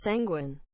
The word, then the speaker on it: sanguine: the hundred bits man it's pronounced sanguine sanguine yes saying windblade I